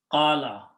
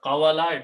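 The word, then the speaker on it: قال: Now this waw is a mismatch, is a weak letter, it has a mixed sound, so we pronounce this as an alif. Qala. Okay, so instead of qawala, it became qala.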